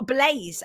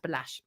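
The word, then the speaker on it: Balazs: absolutely it's owned by Andrea Andrea Blas or Blaze as some people pronounce it right Andre Andre Blaze that's it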